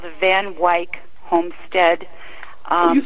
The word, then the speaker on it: Van Wyck: Yeah, we did a place called the Van Wyck Homestead.